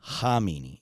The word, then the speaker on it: Khamenei: there's Khamenei and you might be like you're pronouncing it wrong. I we're just going to be very clear. There's Khomeini and Khamenei, okay?